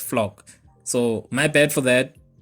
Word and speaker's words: Floch: always pronounced it as flush then i went and watched the english dub and saw that it's pronounced flock so my bad for